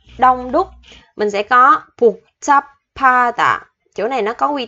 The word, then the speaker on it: 복잡하다: Thì chỗ chữ hờ này mình đọc là chữ p, p. 복잡하다.